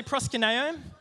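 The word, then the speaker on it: προσκυνέω: the one underneath it does anyone know how to pronounce that it's called prosper nayo Presa Canario can everyone say proskuneo cool does anyone know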